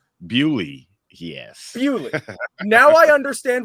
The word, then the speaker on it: Beaulieu: Now I'm Canadian, and like this is a surname that you'll encounter in Quebec, and it's Beaulieu. Apparently, this town is pronounced Bewley. Bewley, yes.